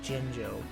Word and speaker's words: Jinjo: out on the smash people now no to pronounce it jinjo you want no excuse freaking his final smash